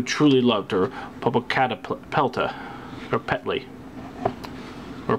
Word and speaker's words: Popocatépetl: was he who truly loved her, Popocatépetl, or Petley, or Petal. Popocatépetl. Not used to pronouncing these 7 names.